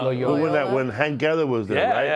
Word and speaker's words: Loyola: security guards in Loyola, and we had security guards in our building because of Johnny Cochran.